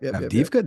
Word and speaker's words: Avdiivka: pronounce it because I'm going to butcher the pronunciation. I think it's Avdiivka, but Avdiivka. Yep. Avdiivka.